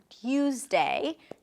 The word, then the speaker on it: Tuesday: Now, of course, you can say don't you and Tuesday, totally fine. But if you want to make it easier, or if you find yourself pronouncing it with a ch sound, know that you're You're good.